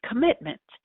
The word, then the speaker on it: commitment: It's made up of, on a phonological level, 3 spoken syllables. The stress is on the root of the word mit. There are 9 phonemes. The first vowel is a schwa.